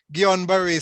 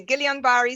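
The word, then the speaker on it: Guillain-Barré: sister will help me i think it's pronounced guillain-barre syndrome right uh let me see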